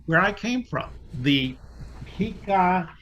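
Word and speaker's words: Pikaia: now i know where i came from the pika it's spelled p-i-k-a-i-a this is the chordata in the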